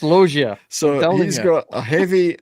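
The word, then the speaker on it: Loggia: It's not French, you know. He's Italian, not French. I understand that, but it's pronounced Logia.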